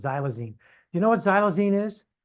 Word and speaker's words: xylazine: You can see how it's pronounced, xylazine.